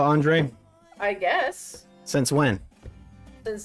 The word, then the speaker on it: Andrade: versus that guy whose name should be Andra but is pronounced Andre uh he had dreadlocks